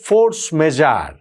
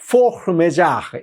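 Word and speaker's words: force majeure: যেইটাকে বলা হচ্ছে ফোর্স মেজার। ইংরেজিতে ফোর্স মেজার। কিন্তু আসলে এটা ফ্রেঞ্চ শব্দ তো ফ্রেঞ্চ উচ্চারণ করাটা বড্ড কঠিন। আমি দেখলাম সবচেয়ে কাছাকাছি বোধহয় ফোহ মেজা এই টাইপের কিছু একটা উচ্চারণ হবে।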